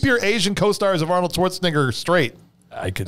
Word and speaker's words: Schwarzenegger: know i am i'm the famous comedian arnold braunschweiger yeah it's like it's schwarzenegger yeah and uh that's so this is when